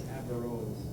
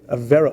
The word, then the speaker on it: Averroes: I think Averroes. I think you put the emphasis on the first syllable, if I remember correctly.